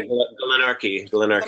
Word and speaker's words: Glenorchy: Zealand to walk in Glenorchy. Is that how you pronounce it? Yeah, Glenorchy. It's a Scottish.